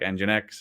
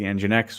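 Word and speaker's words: nginx: you can just deploy to your cluster like engine X and you know if you just it's fine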